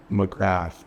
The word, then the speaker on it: McGrath: Okay, my last name is spelled n cg g r a t, which it is McGrath, but if you're from Ireland or Newfoundland, uh it's more black.